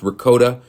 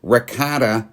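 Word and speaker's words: ricotta: adding peino and Rota cheese and yes it's pronounced Rota that's how you pronounce it in Italian rata is how Americans pronounce it okay learn something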